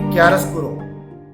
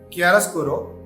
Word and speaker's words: chiaroscuro: The term chiaroscuro, it is pronounced differently in different languages.